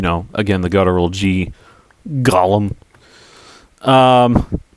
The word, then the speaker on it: Gollum: And uh one of the characters named Gollum, you got to you got to be really guttural with the G uh when you say his name cuz it's like you're